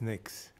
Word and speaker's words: NICS: background check more commonly known as NICs pronounced as NICs both agencies play a